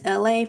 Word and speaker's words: Elay: But my name is Elay, pronounced like LA, like the city.